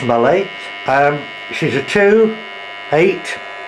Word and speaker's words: Mallet: it's a steam locco Malay pronounced Malay um she's a 28